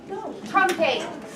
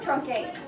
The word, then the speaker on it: truncate: Truncate. Remember, this is pronounced trunk, like trunk of the car. Truncate.